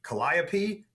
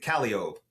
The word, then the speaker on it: Calliope: think they're said this way, like it's supposed to be Calliope, but we pronounce it Calliope, or the street name is spelled like Milan, but we pronounce it Milan.